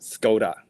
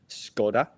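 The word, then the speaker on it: Škoda: guess a symbol above the small S, you pronounce it S. So it's like Elishka. And I I always thought it's called Scoda, the car brand, but it's actually Scoda, I guess.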